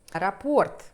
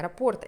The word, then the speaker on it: раппорт: Раппорт, как вы меня учили всегда ставить ударение, раппорт этого узора составляет вот эта вот часть 28 сантиметров.